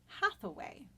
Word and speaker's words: Hathaway: hate away she threw hate away in the Elizabethan dialect would have sounded very similar to the pronunciation of the name Hathaway as in Anne Hathaway